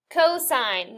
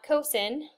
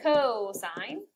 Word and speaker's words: cosine: Cosine, not cosine. So you would pronounce this cosine, is going to stand for adjacent over hypotenuse.